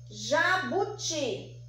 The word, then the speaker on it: jabuti: Qual que é a sílaba mais forte? É o ti. Ti é a sílaba mais forte. Então, ti é uma sílaba tônica. E na sua classificação, ela é a oxítona. Por quê? Porque a última sílaba é a mais forte, certinho?